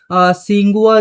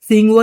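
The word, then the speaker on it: Tsinghua: है वह यहां पर सिंगुआ जो यूनिवर्सिटी है टी यहां पर साइलेंट है। सिंघुआ यूनिवर्सिटी के अंदर यह रिसर्च हुई है।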